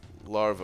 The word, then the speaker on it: larva: hold on how do you it's not just larvae right how do you say that word Laura